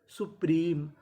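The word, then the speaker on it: supreme: अब देखिए यहाँ पे एम ई के आखिरी में ई है, और आपको पता है कि ई का उच्चारण हमें नहीं करना। तो मीनिंग क्या बनी? सुप्रीम।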